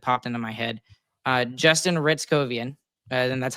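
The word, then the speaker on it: Hryckowian: into my head, Justin Ritzkovian, and that's how you pronounce his name. It starts with an H, but you start it with an R.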